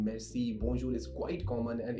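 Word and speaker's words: merci: thank you is Mercy can you pronounce Mercy the spelling is m e r c i uh it means thank you Mercy it's like saying magic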